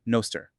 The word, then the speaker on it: Nostr: Agents get cryptographic identities and defined permissions, and the platform runs on the Nostr protocol, pronounced "Noster".